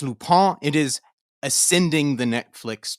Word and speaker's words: Lupin: doing netflix's loophole it looks like lupine but it is french it is pronounced lupa it is ascending the